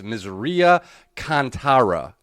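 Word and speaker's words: Miseria Cantare: It's actually Latin for sing the sorrow. It's Miseria Canara. That's how you say it.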